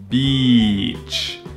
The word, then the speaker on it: beach: Praia é beach, com I mais longo. Beach.